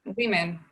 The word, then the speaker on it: women: And here we have, additionally, we have a different pronunciation. Yeah, one woman, two women, one man, two men. Here we have a pronunciation on the different vowel.